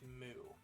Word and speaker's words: Mu: to bring back a ancient continent known as moo moo it's spelled m u i was this I was